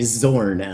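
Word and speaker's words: Xorn: this is a creature known as a a Zorn x o r n is how you spell that um you can't really recall too much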